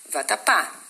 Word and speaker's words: vatapá: fala mesmo você falou vatapá né então como você fala a última sílaba mais forte de falar vatapá né você vai ter